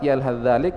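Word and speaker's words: يلهث ذلك: Maka cara membacanya kata beliau harus dimasukkan ke huruf dal. Yalhadzalik, tha tidak terbaca lagi.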